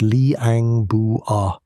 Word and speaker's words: Liang Bua: In 2003, an Australian and Indonesian team went into a cave called Liang Bua, pronounced Lee-ang Boo-ah, hunting for evidence of the human migration to Australia.